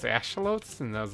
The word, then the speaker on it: axolotl: and then Minecon went on and they're like axolotls are being added to the game I was like wait aren't those things pronounced ashalotes and I was like a shovels or something